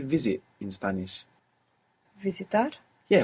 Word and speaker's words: visible: good you're doing here if you're not pronouncing that S as a zed like in English visible many people at home will find themselves uh doing this putting that Zed there from English and pronouncing visible we don't want that we want V and the V is like a soft B if you want more